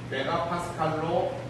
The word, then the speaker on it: MPa: MPA 뭐 시나리오 보면은 지나가는 행인 1, 행인 2 그듯이 MPA, 헌병 A, 헌병 B, 헌병 C 이게 아니고 뭐라고 읽어요? 메가파스칼이라고 하고요.